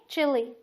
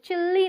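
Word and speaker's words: chilli: तो प्रोनाउंस क्या करेंगे, चिली, चिल्ली ना बोलें, चिल्ली बोलते हैं बहुत लोग, चिल्ली ना बोलें, चिली बोलें।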